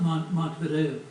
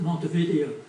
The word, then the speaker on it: Montevideo: This is not pronounced like the city in South America. It's not pronounced Montevideo. When they built this facility, they pronounced it Montevideo. Montevideo. Montevideo is the way they pronounce it. That's how I'm going to say it from here on out.